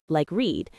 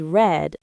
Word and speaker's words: read: The present and past tense are spelled the same but pronounced differently. Present is read, and past is read, like read. Confusing, I know, but you'll get used to it.